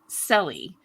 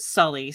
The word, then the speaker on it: Selly: was my great uncle Selly. His name was actually Marcellus, but everybody called him Selly and mispronounced it Sully, so I just went with that.